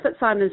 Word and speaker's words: Fitzsimons: indeed joins us now is it Fitz Simons or fit Simmons F no it's fit Simons Sean and good morning